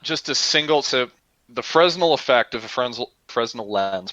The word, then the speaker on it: Fresnel: Fresnel No, it's pronunciation. Hold on. Fresnel. It's Fresnel.